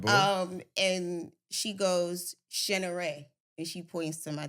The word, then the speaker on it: Shaneiree: pronounced Shaneiree, Mm.